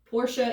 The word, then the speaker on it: Porsche: ferdinand and i'll say portia is the proper pronunciation but i've been saying poor since i was like eight and so you'll hear